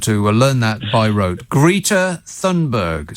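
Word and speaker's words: Greta Thunberg: robert you want to learn that by wrote greta thundberg say it after me it agrees see i'm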